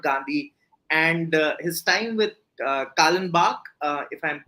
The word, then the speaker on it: Kallenbach: But before that, I really wanted to talk about Gandhi and his time with Kallenbach, if I'm pronouncing it right.